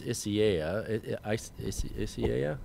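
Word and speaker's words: Isaias: this is interesting um i think the pronunciation of this tropical storm that they've been hearing in the media is isiah it is yeah yeah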